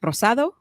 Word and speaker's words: Rosado: I let me let's see if I can pronounce this right Rosado yes am I right okay good good